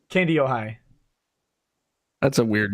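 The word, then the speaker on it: Kandiyohi: But how the fuck you pronounce the name of your county? Candyoi. Candy Ohio.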